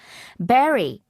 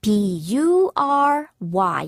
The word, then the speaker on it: bury: Bury. 철자는요. B-E가 아니고요. 우리 스트로베리, 와일드베리 할 때, 블랙베리 할 때 그 베리가 아닙니다. B-U-R-Y. 그래서 bury. 그래서 뷰리라고 발음하시면 안 됩니다. bury.